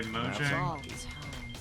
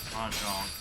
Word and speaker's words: Mojang: I think it's Mojang. Let's start a turn. I can still make it. We're in the black. Is what you were expecting? But anyway, I know it's not pronounced Mahjong. I don't believe it's spelled the same thing.